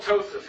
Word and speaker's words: ptosis: It's called ptosis. P is silent.